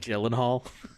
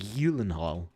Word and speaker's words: Gyllenhaal: sorry snake Gyllenhaal hahaha or is it snake healing Hall it's actually pronounced Jill and Holly I'm just kidding it's not it's not it's something like healing hall or at least that's what he said on Conan but we also the